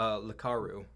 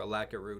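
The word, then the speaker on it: Lakaru: been longer than that so it's called a A laru or a laroo depending on how you pronounce it l a k a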